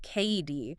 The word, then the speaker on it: Cady: Emilie Cady, that's pronounced K. E. D., she was this incredible homeopathic physician writing in the late 19th century, part scientist, part mystic.